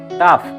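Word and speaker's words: tough: example টাফ এনাফ calf এক্ষেত্রে কিন্তু ফ এর মত উচ্চারণ হচ্ছে জি এইচ মিলিয়া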